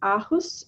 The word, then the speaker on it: Aarhus: He's also an honorary professor in the School of Communications and Culture at Aarhus.